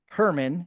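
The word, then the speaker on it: Germán: His name is Herman. He's from Latin America, so it's spelled German.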